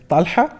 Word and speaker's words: Talha: The Arabic pronunciation is Talha. It's Talha. Ta lam ha and ha, like Okay.